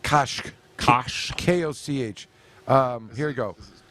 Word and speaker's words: Koch: I may be mispronouncing the name. It's Koch.